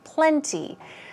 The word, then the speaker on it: plenty: moving on to plenty plenty stress goes right here now it's your choice you could stress that T sound by saying plenty or make it very soft okay and say plenty plenty more like a ple n NY so plenty or plenty they both work means enough what about